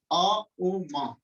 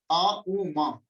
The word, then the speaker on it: ओम: ओम के उच्चारण का तरीका, हम नर्वस सिस्टम को रिलैक्स करने के लिए, कुंडलिनी शक्ति को जागृत करने के लिए आ उ मा, सीधे होकर बैठना, आ उ मा।